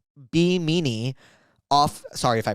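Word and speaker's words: Bimini: I'm on an island called Be Meanie off Sorry if I pronounced that wrong. Offimony Oh, Biminy.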